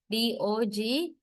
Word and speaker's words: dogs: Sometimes we hear z, like dogs, D-O-G-S in writing, but this letter S is pronounced as not as s, but as z, dogs.